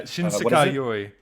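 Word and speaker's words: 新世界より: Yeah, Shinsekai Yoi. That's how you say it. How do I spell it?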